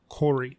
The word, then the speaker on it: Khoury: Stephanie marina all right so we're with Alexander Corey am i pronouncing your name right yeah Alexander Court you